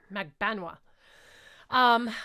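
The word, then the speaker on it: Magbanua: I finally learned how to say it. The other day they were like, it's Magbenois.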